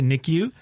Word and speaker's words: NICU: nicu that's right nikki i pronounce it nikki i think most people say nicu uh but danny we're